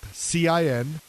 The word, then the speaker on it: Cincoro: great tequila it's by michael jordan it's called cincoro just recently hit the market and it's spelt c-i-n-c-o-r-o cincoro sin means five which means they have